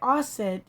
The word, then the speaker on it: Auset: and by the way asset is a pronunciation of it's the ancient egyptian pronunciation of the name of the goddess isis who is obviously his